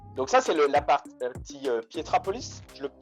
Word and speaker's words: Pietrapolis: - D’accord donc ça c'est la partie Pietrapolis, je le prononce bien?